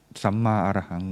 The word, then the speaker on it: Samma Arahang: It pronounced Samma Arahang, which means loosely the path of purity and freedom from the negative thought or negative thing.